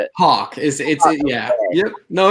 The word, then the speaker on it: Haack: Haack.